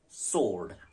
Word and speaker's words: sword: how it is written see s-w-o-r-d sword W is dropped sword sword s-w-o-r-d sword